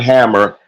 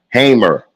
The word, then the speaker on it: Hamer: listen to me, and it's spelled just like Fannie Lou, Lou, Hamer, not Hammer, Hamer, excuse me, that sacrificed her life